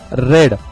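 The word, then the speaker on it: read: जैसे कि यहाँ पे दिख रहा है आपको द बुक इज रेड। दोस्तों, इसका प्रोनाउंसिएशन रेड ऐसा किया जाएगा क्योंकि ये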